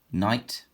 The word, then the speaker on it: knight: Silent letters. Oh, knight. So K-N.